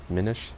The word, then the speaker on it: Minish: confirm it's pronounced minute it is pronounced diminish I also do pronouncing there's only one ends I think it's like mini but minish mini ish the Minish Cap boys